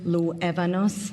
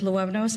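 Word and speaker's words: Luevanos: I hope in due time, Mayor Huber, I can learn to pronounce my name, Ruth Luevnaos. There's an Evan in the middle. My name is Ruth Luevnaos.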